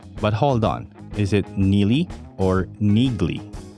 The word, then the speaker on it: Neagley: in the comment section neely is not introduced in the novels until the sixth book without fail but hold on is it nili or niggly on some audio books it is pronounced as niggly which surprised most readers